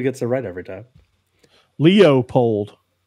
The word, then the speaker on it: Leopold: a red every time Leo polled it ain't Leopold laypold who's this Leopold guy